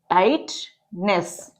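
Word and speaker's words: tightness: टाइटनेस, टी को half करना है टी के लिए, जीएच हमारा साइलेंट है, टाइटनेस।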